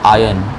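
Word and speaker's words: iron: भी हम कहते हैं इसमें आयरन में आर नहीं बोलना होता है और साइलेंट होता है इसे बोलते आयरन क्या बोलते हैं लेकिन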